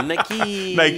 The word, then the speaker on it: Nike: I almost put like Nike with like 5 E's after it just to help. Yeah, to just read it out phonetically. Nike.